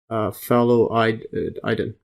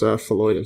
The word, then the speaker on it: phalloidin: phalloidin. Well, actually, that's pronounced phalloidin.